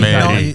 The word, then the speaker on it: Merih: Yeah, it's Russian pronunciation. Good evening, Merih. Merih. Merih. I was in Merih.